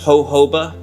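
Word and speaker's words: jojoba: how to pronounce that how do you pronounce hoba that's pronounced hoba hoba hoba hoba soap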